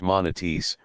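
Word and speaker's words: manatís: agua salada y dulce, pex que llamaban los indios manatis, la penúltima sílaba luenga.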